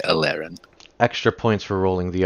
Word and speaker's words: Aleerayn: it and completely extra, it would be Alerin. But you don't have to roll the R like that, so you can say Alerin.